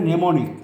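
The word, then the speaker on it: mnemonic: হলো সেমান্টিক memory হলে নেমনিক এমটা উচ্চারণ হবে না মেন্টাল কনসেপ্ট হলে কনসেপ্টচুয়াল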